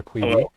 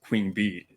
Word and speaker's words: Queeby: And yeah, so just to introduce the player that we are reviewing, you are Queeby. Hello. For And those who are wondering, it's not pronounced Queen Bee.